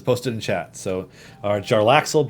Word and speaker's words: Jarlaxle: Pronunciation guide. All right. Bum bum bum bum bum bum. Jarlaxle Bainra. Jarlaxle Bainray.